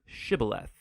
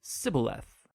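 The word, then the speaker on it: שיבולת: pronounce the Hebrew word shibboleth. It turned out that the Ephraimites had grown up pronouncing that word differently, so instead of saying shibboleth, they would say sibboleth.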